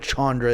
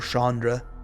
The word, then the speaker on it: Chandra: fine wanting to flip Chandra it appears or Shandra however you prefer to pronounce that name heard it both ways okay our opponents trying